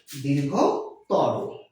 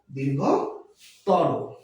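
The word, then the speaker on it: দীর্ঘতর: বিশেষণের অতিয়ন করার সময় আমরা যদি তম বা তর প্রত্যয় যুক্ত করি তাহলে সেই শব্দগুলোর উচ্চারণ হবে অন্ত আয়ের উচ্চারণ হবে ওকার। অর্থাৎ দীর্ঘতম দীর্ঘ তর দীর্ঘতম দীর্ঘ তর আজকে আমরা অন্তফ এর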